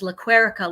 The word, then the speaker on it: Lequerica: And it was easy to say, my name is Lequerica, like America.